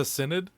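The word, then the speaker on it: Synod: know how to say do you know that seat of the sinid is pronounced seat of the cnid there's one right now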